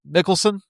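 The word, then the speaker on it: Mikkelsen: Stars Daniel Craig, Ava Green, Mads Michael Mickelson.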